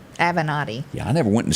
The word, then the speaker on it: Avenatti: jail oh goodness michael of how do you pronounce his last name avenatti avenatti yeah i never went to school nobody named